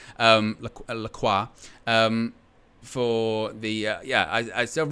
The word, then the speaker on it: Lacroix: Thank you, Ridwan, for the pronunciation. Lacroix.